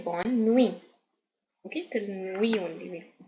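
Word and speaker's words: bonne nuit: u i t okay we not pronounce t we'll say Bon new okay till we only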